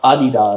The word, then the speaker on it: Adidas: Adidas. In Germany, they're pronounced Adidas.